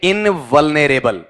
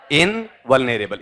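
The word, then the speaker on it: invulnerable: इसे बोलोगे इनवलनेरेबल। बोल के बताओ क्या है? इनवलनेरेबल।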